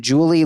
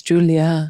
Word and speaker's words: Julia: Mint B writes, YTA, for some reason I read the whole post in Julie Louis Dreyfus's voice. Not her name. Yeah, it's Julia. Come on.